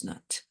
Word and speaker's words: knot: loose knot, 여기 키가 발음 안 나죠.